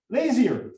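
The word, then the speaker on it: Lazear: Laser or Because it's a family name, it's difficult for me to know. uh-huh. Lazier.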